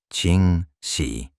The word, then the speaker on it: Ching Shih: conocen hoy comúnmente como Ching Shih, pronunciado Ching Shih.